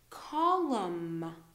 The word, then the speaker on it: column: M and then n uh usually we don't pronounce the M okay so condemn column autumn autumn you know fall the season so